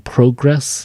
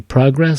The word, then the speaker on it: progress: So if you don't know how to pronounce progress, because you keep saying progress, and it should be progress.